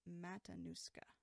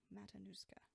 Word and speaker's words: Matanuska: all of it Lee is telling me it's pronounced Matanuska Matanuska cool thank you I will attempt to remember